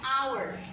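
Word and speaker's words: hour: yang pertama ini bacanya our hanya tidak dibaca our ini artinya jam hai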